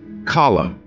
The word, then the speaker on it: column: Column, here N is silent.